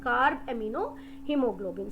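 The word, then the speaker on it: carbaminohemoglobin: combines with hemoglobin form card amino hemoglobin it's pronunciation card amino hemoglobin so this is how it goes to the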